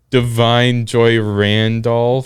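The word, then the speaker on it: Da'Vine Joy Randolph: Yeah, best supporting actress, The Holdovers, Divine Joy Randolph.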